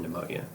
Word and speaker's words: pneumonia: silent killer but eventually just like the p in pneumonia can you stop P pneumonia eventually those moons fall